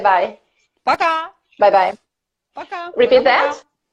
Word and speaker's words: пока: Пока. Bye-bye. Пока. Repeat that. Пока-пока.